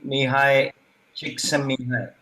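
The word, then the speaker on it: Mihaly Csikszentmihalyi: I'm reminded of this book by, it's a difficult to pronounce name, Mihai Csikszentmihalyi, the fellow who wrote Flow and then Creativity, which is a brilliant book.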